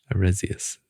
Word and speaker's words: Arus: us some goodies yeah I definitely said it wrong the first time then sect of arus arus there you go arus yeah so she